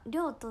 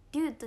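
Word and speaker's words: リョート: リョートって読むんだね。リュートじゃないね。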